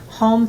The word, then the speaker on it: Hohm: And then we have Home Foundation, and that's our charity.